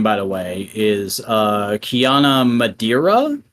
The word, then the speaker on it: Kiana Madeira: the way is uh Kiana Madeira is how I think you would pronounce that um yeah never heard